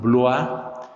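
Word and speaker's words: Bloy: hay un escritor francés que se pronuncia León blog el apellido él se escribe b grande l o y león y él decía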